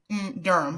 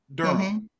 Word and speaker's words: Durham: just get right to it Durham am I pronouncing it correctly I want to make sure Durham Durham Durham just Durham yep just Durham Durham Public Schools